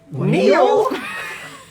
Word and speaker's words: Neel: sword she goes my name is neil neal it's spelled n-e-e-l so for some reason i read